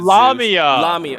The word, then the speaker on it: Lamia: queen of ancient Libya who had aair with lamia okay I didn't know how to pronounce it l okay okay okay lamia got